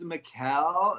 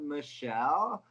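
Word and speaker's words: Michele: me was like um it's pronounced mikael not michelle like all right fine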